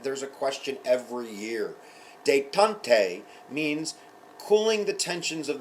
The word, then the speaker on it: détente: This is détente. You can say it like a Native American or a Frenchman. Détente.